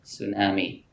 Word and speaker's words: tsunami: In English, tsunami, we do not pronounce the letter T. Okay, tsunami.